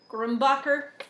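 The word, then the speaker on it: Grumbacher: it's a paint tray from grombacher that's how you say it um I think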